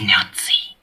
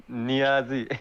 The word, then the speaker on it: Niazi: between my brother's legs my name is nazi sorry what's the name it's pronounced niazi god of course